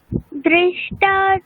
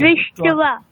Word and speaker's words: दृष्ट्वा: दृष्टा तु पाण्डवानीके দেখুন দৃষ্টা নেই, ঠিক আছে, ওটা উচ্চারণ কিরকম হবে, দৃষ্ট্বা, ঠিক আছে, মানে ওখানে